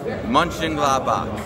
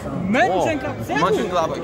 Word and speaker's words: Mönchengladbach: Mönchengladbach. Mönchengladbach.